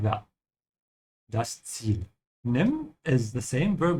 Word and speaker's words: Ziel: Again here with the Z sound, has to start with a T, yeah? Like that. Das Ziel.